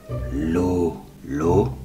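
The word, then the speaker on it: Lulù: La nonna Lulu, con l'accento sulla U, ha la chiave.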